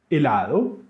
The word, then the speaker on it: helado: If you watched the previous video on the alphabet, you already know that H in Spanish is silent. And so we say almohada, helado, hielo, hongo, and huevo.